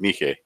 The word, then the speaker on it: Nike: with him, Hiraku Katsu became the champion of Nike. Or Nike, if you want to pronounce it that way.